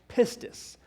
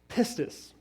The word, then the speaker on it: pistis: is the greek word for faith is p-i-s-t pistis i think i'm saying it right if i'm not i'm sorry pistus you know what that word faith means it